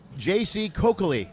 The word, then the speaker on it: J.C. Coccoli: Sorry, her name is J.C. Coccoli.